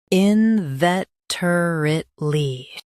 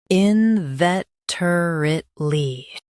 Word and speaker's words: inveterately: in vet er it ly inveterately Stress vet. Keep er it quick and clear.